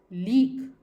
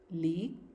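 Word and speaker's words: league: और GUE अगर ये वर्ड्स हैं, किसी भी वर्ड लेटर्स हैं और ये किसी भी वर्ड के आखिरी में आते हैं तो these will be pronounced as ग, लीक, डायलॉग, लीक, डायलॉग।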